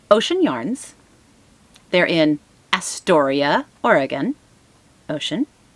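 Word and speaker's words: Oshen Yarns: It's Ocean Yarns. They're in Astoria, Oregon. Ocean, Astoria. Now it's not spelled O-C-E-A-N. It's O-S-H-E-N. But mind you, I'm listening, so I hear Ocean Yarns, which is how it's pronounced.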